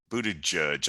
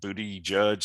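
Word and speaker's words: Buttigieg: transportation secretary mr pete booted judge i think his name is pronounced booty judge something like that and you know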